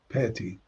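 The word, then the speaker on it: פתי: And there again, once again, because of the siluk, this syllable is stressed, peti.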